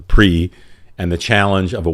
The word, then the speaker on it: PRI: one of the lecture Mexico's PRI which is pronounced the pre and the challenge of